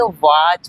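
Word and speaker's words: watch: वाच पढ़ेंगे। क्या पढ़ेंगे? वाच पढ़ेंगे। ये क्या लिखा है? टी को हम क्या करते हैं? साइलेंट रहने देते हैं।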